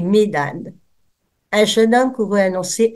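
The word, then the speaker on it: Medad: la règle du jeu la règle c'est de prononcer pour les nots propres et les mots qui ne sont pas dans notre langue on prononce toutes les lettres eldade et mdad jeune homme qu'it annoncer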